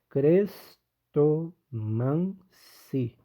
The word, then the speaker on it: Crestomanci: Crestomancer. É assim que se pronuncia?